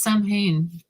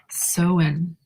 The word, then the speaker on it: Samhain: I've always said it's Samhain. You're saying it's so. I think I would know that, right? Well, I just didn't pronounce it right. Soen.